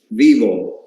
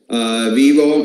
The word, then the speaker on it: Vyvo: this is the brain the brain is it's pronounced vivo vivo it's a lot e word that is safe